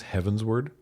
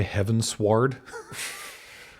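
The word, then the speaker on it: Heavensward: Uh, did I mispronounce Heaven's word? Did I say heaven sward? It's not heaven's sword. No, it's heaven's word like as in going towards heaven.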